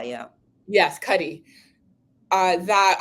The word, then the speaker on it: Cuddy: Cuddy.